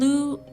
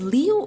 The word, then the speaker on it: Liu: Is it Liu or Lou? How do you pronounce that? Jeff would rather play RuneScape all day instead of socializing. He does kind of sound like that. He gives me that impression. I'm going to pronounce it Liu. Or is it Lou? Lou sounds cooler, so I'll say Lou.